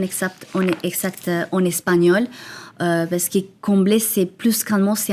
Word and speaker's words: Comblée: Donc en en Colombie, ça se prononce comblé.